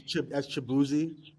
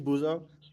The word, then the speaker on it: Chibuzo: people were mispronouncing his name as Chibuzi, like as opposed to Chibuzo.